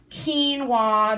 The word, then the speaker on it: quinoa: get some of those and then I got Keen W that's how you pronounce it I figured it out it's called